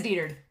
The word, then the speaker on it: Dietfried: Okay, it is Diethard.